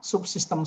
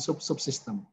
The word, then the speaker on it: subsistem: itu gampangannya begitu ya subsistem yang sering salah itu menut subsistem ini kalau diulang subsistem subsistem bukan subssistem pasca sarjana pasca sarjana pasca